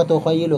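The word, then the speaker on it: تُخَيِّلُ: Saya lebih cenderung bacanya wa tukhayyilu karena mengikuti fa'ilnya. Karena fa'ilnya muannas, maka yang cocok adalah fi'ilnya juga muannas.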